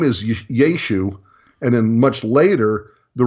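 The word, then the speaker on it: ישוע: on the end, but the ayin on the end wouldn't have been pronounced. Okay. It would have still would have been yud, shin, vav, ayin, but it would have been pronounced yeshu.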